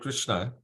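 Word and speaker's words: Kṛṣṇa: So we we see that in Krishna as well. The word Krishna K R S N A there's a dot under S.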